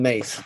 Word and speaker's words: Myss: i stole from carolyn mace one of my favorite spiritual teachers and it's failed myss but pronounced carolyn mace she says where to